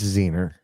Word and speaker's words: Zener: It's Zener. You don't know that it's Zener. I can show it to you on the internet, okay? And by regular laws of pronunciation, it's Zener.